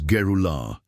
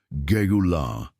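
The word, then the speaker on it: גאולה: The Hebrew word that defines exactly what is happening to you is Geulah. Pronounce it with me in a low voice wherever you are. Geulah.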